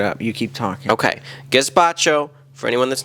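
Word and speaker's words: gazpacho: was chilled and it was good yeah it's gaspacho gaspacho that's how it's pronounced anyway you were saying cucumber chilled soup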